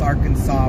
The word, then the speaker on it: Arkansas: But yeah, we know the S is silent. I'm We just are trying to be funny pronouncing thing. I know it's Arkansas.